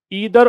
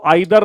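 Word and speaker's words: either: नीदर बोलने की आप इसको आइदर नाइदर पढ़ें दोनों ही एक्सेप्टेबल है दोनों ही प्रोनंसिएशन इसके हो सकते हैं आइदर भी हो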